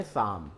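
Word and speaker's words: psalm: अर्थ में आता है शाम तो यहां पी भी साइलेंट हुआ और एल भी साइलेंट हुआ ये दोनों वर्ड यहां पर साइलेंट हो रहे हैं शाम यानी पवित्र गीत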